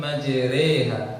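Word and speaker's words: مجريها: Bismillahi majriha. Tulisannya majroha, bacanya reha.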